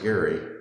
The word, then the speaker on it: Gerry: uh the actual this Jerry Mander this is a cartoon that was printed in 1812 in Massachusetts there was a governor named eldrich Jerry uh only was name was pronounced Gary uh Governor eldrich Gary